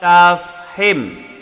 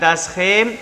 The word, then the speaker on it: tafkhim: Yang tebal disebut ra tafhim. Ra apa? Ra tashim. Bukan tashim tapi tafhim.